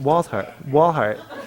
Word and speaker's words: Walthart: And Walthart? Oh, the T is silent. Walhart.